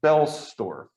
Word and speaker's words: Boellstorff: looked on his website he pronounced his name it's got that oh but he says don't say the o so it's belstorf tom's thomas belstorff's article